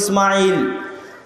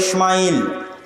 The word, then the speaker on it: ইসমাইল: আমরা সিন হালকা করে উচ্চারণ করি ইসমাইল, তারা বড় করে মোটা করে উচ্চারণ করে ইসমাইল, এবং তারা এটাও স্বীকার